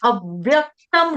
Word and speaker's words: अव्यक्तम: ने ठंडाठंडा बोल दिया अव्यक्तम अव्यक्तम नहीं बोलना अव्यक्तम डबल व का उच्चारण आएगा ना दो व आधे आधे अव्यक्तम परपासते परपासते सर्वत्र गम